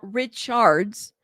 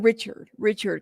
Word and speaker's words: Richards: Rich okay gotcha thank you so much it's pronounced Richards let me know if I said it because it's cre okay Richards correct me love thank you thank you for correcting me I keep saying Richard Richard because it's with an R you know because